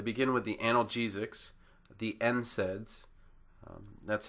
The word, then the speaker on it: NSAIDs: They begin with the analgesics, the NSAIDs. That's how that's pronounced. Because we have two consonants to begin the word, the N and the S, we sound out the N and then SAIDs. So NSAIDs, and usually it's all caps,